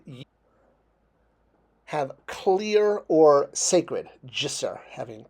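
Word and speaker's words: ḏsr: And it's pronounced jisser, j. The D is the J sound. With that line under it makes it the J.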